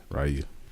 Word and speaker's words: Ryu: Oh yeah, I'll definitely do that, and I'll bring my Ryu Amiibo along with me because that's how you pronounce his name. Ryu.